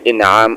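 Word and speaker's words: إنعام: নামে যদি উপঢৌরকনের নামে এখানে হামজার নিচে দিয়ে ইনআম উচ্চারণ করলে এর অর্থ হবে উপহার উপঢৌরকণ পুরস্কার আর হামজার উপরে জবর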